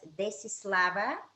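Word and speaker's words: Desislava: to say uh really in bulgarian you say my name is desi slava and i don't know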